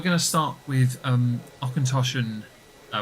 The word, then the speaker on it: Auchentoshan: to start with um osin uh which is the name of The Distillery um we had to confirm this although I we did find also okoshi was another pronunciation yeah um yeah that